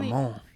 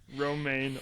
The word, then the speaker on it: Romaine: He played Romaine, and I mainly know him from Ramon. Oh, sorry. Romaine, like the lettuce.